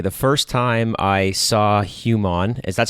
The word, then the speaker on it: HUMON: It's a lot of people say human, and I always try to correct them that it's HUMON.